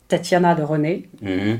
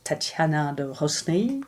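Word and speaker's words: Tatiana de Rosnay: It's called Tatiana de René, but the Americans pronounce Tatiana de Rosny.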